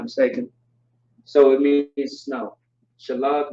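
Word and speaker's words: שלג: Shalag means snow in Hebrew. That's how you say it.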